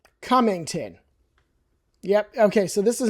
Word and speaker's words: Cummington: Cummington. Yep. Okay. So this is not a hard one to pronounce.